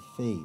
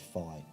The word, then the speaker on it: phi: the fibonacci sequence and fee or phi depending on how you choose to pronounce it i'll go with phi there's plenty of websites